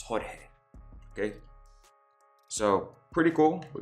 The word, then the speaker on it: Jorge: And just know I'm going to pronounce it in Spanish because I doubt it was going to be George Alfaro. It's Jorge.